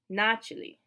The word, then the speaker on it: начали: In the plural, the stress is back on the first syllable, начали. But we spell it with an A, but we still pronounce the second A like an E. Начали, because it's not stressed.